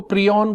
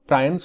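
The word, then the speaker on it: prions: प्रायंस के बारे में यदि अपन बात करें, कुछ लोग इनको प्रियॉन बोलते हैं तो बट ज्यादा बेटर प्रोनाउंसिएशन प्रायंस होगा।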